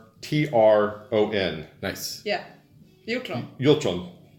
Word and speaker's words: Hjortron: Hjortron. Hjortron. So how does the HJ sound? Is the H silent? Yeah.